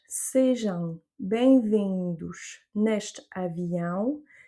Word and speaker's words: sejam: Pas jam. Non, non, non, sejam.